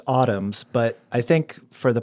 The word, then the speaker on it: Autumn's: It's autumns. But I think for the purpose of this question, we should have you spell it for us. Yeah. So, it's autumn like the season.